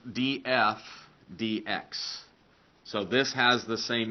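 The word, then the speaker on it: dF/dx: written as DF DX okay so this is pronounced DF DX so this has the same meaning as the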